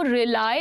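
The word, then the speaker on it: rely: आई can completely रिलाई upon तनु। ठीक है, इस तरह से हम बोलते हैं भरोसा करने की अंग्रेजी रिली नहीं है ये, दिस इज नॉट रिली। क्या प्रोनाउंसिएशन है? रिलाई, रिलाई बोलते इसको।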